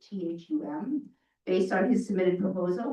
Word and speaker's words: Thum: So I am here recommending the select board award the lease to William Thum, I believe is how you say his last name, Thum, based on his submitted